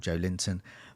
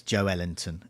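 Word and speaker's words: Joelinton: in Newcastle he's called Joe Linton. But a Brazilian friend of mine said that his Brazilian... I can't do the accent, but it's Joe Ellington is how you pronounce it in Brazil.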